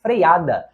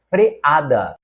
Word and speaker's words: freada: conforme a norma padrão você sabe que beneficiente está errado é beneficente correto Como você sabe também que não se diz freiada mas freada assim também não é impecílio é empecilho E finalmente não é previlégio é privilégio portanto das palavras que estão